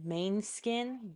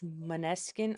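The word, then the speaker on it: Måneskin: I thought it was called Beggin' by Mainskin, but it's Maneskin. I was like, oh, interesting. I've been saying it wrong this whole time.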